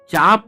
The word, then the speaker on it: chaff: Sharp technology जिसे हम उन्नत शार्प टेक्नोलॉजी कहते हैं, ये उन्नत चाप या चेप, स्पेलिंग है उसका CHAFF, उन्नत चेप प्रौद्योगिकी DRDO ने इस टेक्नोलॉजी को विकसित किया है।